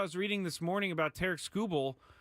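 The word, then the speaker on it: Tarik Skubal: the world or the Tarek Skubals of the world. And by the way, finally found out that I was saying his name wrong this entire time. It's not Tariq Skubal, it's Tarek Skubal.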